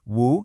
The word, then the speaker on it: 無: So, this character is pronounced woo in Mandarin and moo in Japanese.